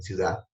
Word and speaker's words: ciudad: Por ejemplo, en la costa no pronuncian la D en ciudad, sino dicen ciudad. Entonces se come la D.